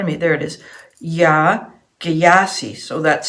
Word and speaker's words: Yaa Gyasi: Yaa Gyasi. So that's spelled Y-A-A and then G-Y-A-S-I.